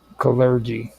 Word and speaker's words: Kalergi: Uh, what is um, how do you pronounce his the second part of that surname? Callergy.